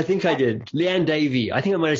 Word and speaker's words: Davey: Liane Davey. I think I might have said Liane Davies, but it's Liane Davey.